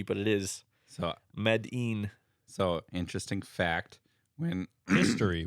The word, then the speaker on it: Medin: what it is but that I turns into e it's pronounced e and I don't know why it's pronounced e but it is so medine so interesting fact when